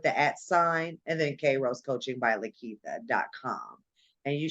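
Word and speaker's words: Kairos: company it is uh a lot of people pronounce it Cairo so I pronounce it K Rose but it's just how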